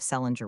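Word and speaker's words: St. Leger: 1858, married an Irishman of the name of Celinger Witch, was the usual way of pronouncing the name of St.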